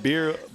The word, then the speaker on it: birria: And how do you say it's birria? Birria. Birria. Yes. Did I get that right? Birria. Birria, yes. Birria.